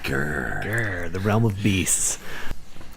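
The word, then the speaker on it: Ghur: You gotta say it like that. Grr.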